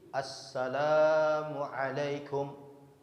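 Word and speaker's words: السلام عليكم: bagaimana pengucapan salam itu salam itu jelas alif lam Sin Lam Alif mim betul ya sinnya Sin yang pertama itu alif lam Sin ada tasydid jadi assalamualaikum warahmatullah jadi kalau kita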